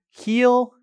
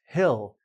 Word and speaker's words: he'll: Similar to the first example, this one, HE''LL, some people pronounce this as hill, similar to, a small mountain. But a lot of people also pronounce it as heel.